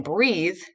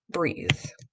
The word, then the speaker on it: breathe: Remember, silent E leans over and taps his vowel friend here. He normally says but in breathe, because of silent E here, it's going to say E, breathe.